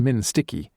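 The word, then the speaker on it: MNSTC-I: Security Transition Command Iraq, whose acronym, pronounced Minsticky, made it sound like a sweet roll.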